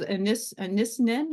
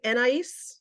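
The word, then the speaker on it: Anaïs: And it was Anisnin, or I'm going to say it wrong. And I think Anais.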